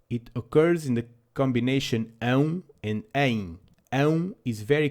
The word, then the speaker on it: ão: It is also the Portuguese version of the sound a dog makes: ão, ão, woof, woof.